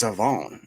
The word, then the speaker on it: Shavon: Do you think anybody just ever took Siobhan aside and was like, "That's not what your name is. It's not that's not how you spell it." And he's like, "Nuhuh. It's Savone.